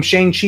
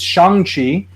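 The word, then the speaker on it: Shang-Chi: pronunciation this whole time i've been calling him shang chi it's shanxi we have that movie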